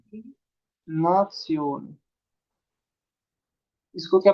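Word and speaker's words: Nation: इसके बाद इसको क्या प्रोनाउंस करेंगे? नात्सियोन।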